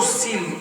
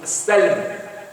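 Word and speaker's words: سلم: Et le mot silm ici, on prononce aussi le mot salm ici, est une manière de mettre en évidence cette richesse coranique. Et donc, si nous prenons le côté paix que supporte le mot silm ou le mot salm, les deux prononciations sont possibles et sont valables et validées.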